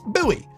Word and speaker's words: buoy: two words I was going up with oh boy this word so I've talked about this word